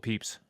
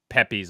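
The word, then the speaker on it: Pepys: great fire 16 Samuel Peeps Samuel Peeps final answer and it's not pronounced Pepes or whatever it's peeps how did you know that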